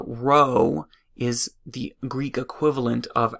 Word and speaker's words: rho: Greek letter Rho or this italicized P looking thing but this is pronounced Rho remember this is similar